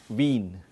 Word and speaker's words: Wien: A very important distinction while speaking is a combination of vowels IE and EI. Okay, and there's a very distinct difference in German. IE, like Wien.